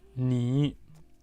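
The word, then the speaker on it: 你: Donc, deuxième pronom personnel, nous allons reconnaître, il prononce ni.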